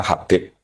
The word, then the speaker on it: Habib: Itu di harakatnya kitab itu ada yang nulis Hubb. Lalu yang benar. Oh nggih. Yang benar itu bacanya Habib.